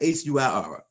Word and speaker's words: huir: Okay, so you got HUIR. How do you pronounce that, Miss Constance?